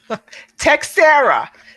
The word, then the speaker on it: Teixeira: pronounce that last name textera there's no eyes in there and it's easier to then pronounce why don't you just